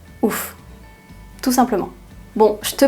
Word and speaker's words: ouf: Par exemple, c'est fou. En verlan, on va dire c'est ouf. Fou, ouf.